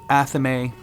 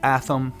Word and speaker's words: athame: Some say Athame, some say Athame, some say Athame, some say Athame, some say Athame.